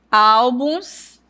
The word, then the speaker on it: álbuns: Álbuns, perceberam? Então, a sílaba tônica é al.